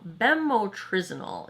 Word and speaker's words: bemotrizinol: Let me try to say it correctly. Bemotrizinol is how I'm going to say it.